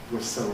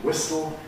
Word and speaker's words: whistle: Schwa n gives you syllabic n, threaten gives you threaten, whistle gives you whistle, and in a word